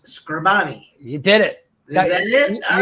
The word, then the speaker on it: Scribani: I've called I've I've always know I mispronounced your last name every time that it's scribani you did it all